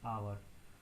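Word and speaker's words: hour: जैसे मैंने आपको बताया कि जहाँ पे एच साइलेंट होगा, ठीक है, एन आवर, तो वहाँ पे हम किसका यूज़ करेंगे, एन का यूज़ करेंगे। Y, because H is silent, so अवर sound is coming of ओ। ठीक है, तो ओ का साउंड यहाँ पे आ रहा है, that's why एन इज यूज।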